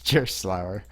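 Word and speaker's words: Gerstlauer: No, it's gonna be like the mispronunciation part. Yeah, it's Gerslauer.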